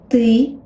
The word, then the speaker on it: ты: Also, avoid this puff of air, this aspiration that comes after English T.